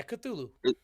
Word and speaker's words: Cthulhu: hell yeah yeah yeah is that how it's pronounced cthulhu yeah cthulhu okay well yeah he wrote that name so